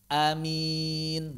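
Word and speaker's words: آمين: Yang pertama hamzahnya panjang. Amin tanpa tasydid. Yang kedua sama seperti yang pertama bedanya di hamzahnya doang pendek. Amin.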